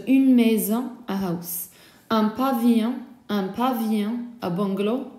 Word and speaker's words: pavillon: Un pavillon, a bungalow, double L is silent.